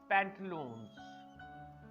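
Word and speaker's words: pantaloons: तो ये भी चूंकि पैंट्स या ट्राउजर्स की ही इंग्लिश है, तो इसका भी सही प्रोनाउंसिएशन है पैंटलून्स।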